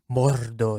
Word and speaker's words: Mordor: that yeah yeah to say it right though Mordor M that's true there's a lot of rolling RS which is really cool